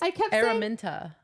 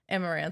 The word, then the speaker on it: Araminta: Oh, it's Araminta. Araminta. Okay. Do you want to know something funny? What did you say? Amarantha?